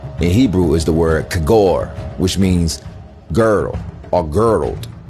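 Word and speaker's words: khagore: Kagor. Pronunciation, kagor.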